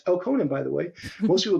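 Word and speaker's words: Elkonin: it it's e l k n i n pronounced elonen by the way most people don't know how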